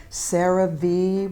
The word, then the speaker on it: CeraVe: local drugstore there's a few brand names like cerave which is spelled c-e-r-a-v-e uh neutrogena makes a mineral sunscreen